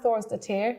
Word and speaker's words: Thorsdottir: very excited um so my name is Thor's de tear which is like the English version of the pronunciation which will be the actual Icelandic one the Icelandic right I